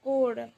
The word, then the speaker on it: could: कोड आप लोग sentence meaning गलत समझिएगा नहीं इसको कोड बोलते हैं। कोड कोल नहीं कोड बहुत जन बोलते हैं कोल।